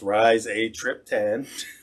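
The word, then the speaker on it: rizatriptan: effective migraine drug called rhizotripan pronounced rise a trip ten or other times they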